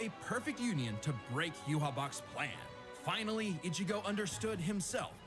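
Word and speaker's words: Yhwach: Yuhabak. And while other Shinigami tried their best, only Ichigo... I'm glad someone told me how to say the name. I was calling him Father Yawatch.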